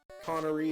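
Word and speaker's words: Coneria: I'll tell you that a Connery is a trochaic it's it's two trochaic feet the first syllable is stressed and and the third syllable stress notes Connor Aria you know there are people who pronounce it differently and they're just wrong right they're not poets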